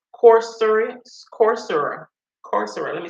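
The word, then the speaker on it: Coursera: go to Corsica or cor what is called corser corser corser let me spell it for y'all because of my P pronounce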